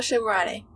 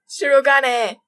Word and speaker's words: Shirogane: Sakuya LeBel Shikurane. Shikune. Shikurange. Oh my god. Wait, no. Shirogane.